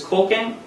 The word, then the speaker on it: Koken: Koken is pronounced like spoken. It is a Japanese word. It's Koken.